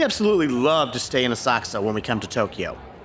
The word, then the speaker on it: Asakusa: Oh, and yes, it is pronounced Asakusa. The U is silent or devoiced. This is very common in many Japanese proper nouns and at the ends of lots of their words. The next stop is Asakusa.